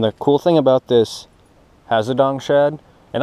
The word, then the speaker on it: Hazedong: cool thing about this hazadong shad and i call it hazadong just because that's the way the people i watch pronounce it i got made fun